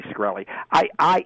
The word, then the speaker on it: Shkreli: The I can't even pronounce his name right. It's Shkreli.